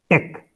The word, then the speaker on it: TeX: It says TEX, so it is pronounced tech. Okay. With a K.